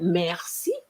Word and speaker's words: merci: For example, the other day I heard somebody saying merci, merci, and I said, oh gosh, merci, merci. You see, I pronounce the R, but not merci.